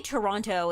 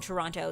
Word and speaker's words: Toronto: anybody who lives in Toronto is going to call it Toronto. I think the closer people live to Toronto, like the less the less they pronounce that second T.